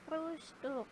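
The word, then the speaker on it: Frühstück: Makanya dia tetap dibacanya SCHT juga sama seperti frustuk. Nah, itu kan dibacanya dua suku kata fru stuk ya. Nah, stuknya itu dia st-nya dibacanya SCHT karena dia ada di awal suku H gitu.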